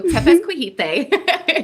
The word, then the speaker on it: Tepezcohite: So Tepezcohite is how you pronounce it. Yep, Tepezcohite.